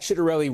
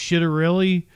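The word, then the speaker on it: Ciattarelli: It really is pronounced chitterelli cuz that's the way Cornaki said it.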